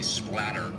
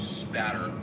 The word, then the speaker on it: spatter: A lot of people mispronounce it and say splatter with an L. It's spatter.